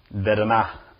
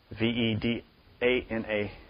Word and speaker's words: vedana: In Sanskrit, sensation is pronounced vedana, V-E-D-A-N-A, vedana. This is the second aggregate.